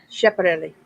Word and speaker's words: Schiaparelli: How do I pronounce that? Schiaparelli. Schiaparelli.